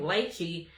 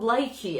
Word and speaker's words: lychee: in the shade Lychee, someone said to pronounce it like peachy, but with an L. So I started doing that because I was saying lychee. And then people started commenting, it's called lychee.